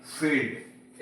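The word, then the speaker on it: field: फील्ड।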